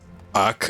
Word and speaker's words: Acre: Yeah, the way you pronounce Acre is Ak, and then a throat lodging sound.